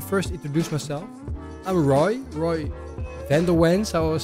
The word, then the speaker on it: van der Wens: I'm so used to saying it in Americans, so the Americans will say Roy van der Wens.